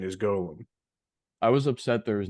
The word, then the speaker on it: golem: The proper Hebraic pronunciation is golem.